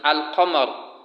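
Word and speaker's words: القمر: The lam of al-qamar is pronounced and is clear, while the lam of ash-shams is not pronounced and is not shown, except that the letter after the lam is what is doubled.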